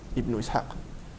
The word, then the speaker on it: Ibn Ishaq: obra de Ibn Ishaq, que por cierto, se pronuncia Ibn Ishaq.